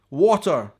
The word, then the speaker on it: water: to that is water and Scotland we would pronounce a hard T water in England and I don't even like saying this because it's so weird for me to say what water no how did this